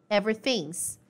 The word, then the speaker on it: everything's: Ele poderia falar everything is, mas ele contraiu e virou everything's. Então, a gente pronuncia tudo junto.